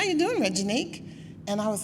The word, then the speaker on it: Reginique: oh just call me Reggie my name is regenique but I tell people just call me Reggie